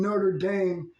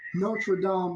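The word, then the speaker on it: Notre-Dame: movie it's like not only that I accidentally mispronounced nraam and I end up saying Notre Dame but that's because I heard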